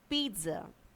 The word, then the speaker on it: pizza: The second word is pizza.